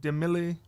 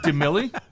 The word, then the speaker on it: DeMille: It's not DeMille. No, it's DeMille. But good. DeMille.